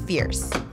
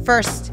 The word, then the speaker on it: First: shots by the way it is pronounced Fierce and yeah we both thought it was first at first as well upon arriving